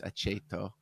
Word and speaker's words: Aceto: CH is if it's followed by a vowel, so it's aceto.